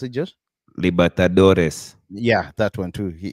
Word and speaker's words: Libertadores: How do you pronounce it, Josh? Libertadores.